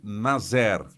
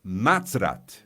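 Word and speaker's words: נצרת: Dizemos em hebreu para Nazaré, Natzrat. Não se trata de Nazer, mas Natzrat.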